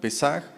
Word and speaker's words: Pesaj: Y bueno, la Pascua hebrea, que ya vimos que es Pesaj, es P-E con acento en la E, S-A-J, Pesaj.